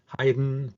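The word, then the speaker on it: Haydn: this Friday has their coffee with heyen that's pronounced hi like wien Heiden President Biden and all that uh tickets uh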